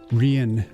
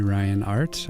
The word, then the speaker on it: Riyin: Rian. Rian Art or you can call me Ryan Art. I don't care. My real name is Ryan. Come on. But uh Rian is the way you pronounce that spelling.